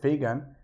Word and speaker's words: FeGAN: We divide FeGAN into two syllables, Fe, which stands for Federated Learning, and GAN, which is an acronym for Generative Adversarial Networks.